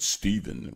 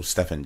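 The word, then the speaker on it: Stephan: played Walter Cruz was his name is Stephen James or Stefan James depends on who you ask you know some people say my name is Stefan's not Steven whatever dude so Stefan James so that young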